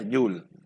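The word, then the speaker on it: joule: algunos ya habrán escuchado el nombre jules se pronuncia you'll bien bueno vamos a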